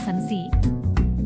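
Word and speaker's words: 先生: Contoh, sensei dibaca sensi, guru.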